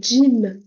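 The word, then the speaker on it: جيم: Juste, c'est comme le gym en français en soi, Sauf c'est comme avant de dire gym, vous allez rajouter un D.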